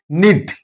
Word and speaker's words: knit: So here K is silent. Knit.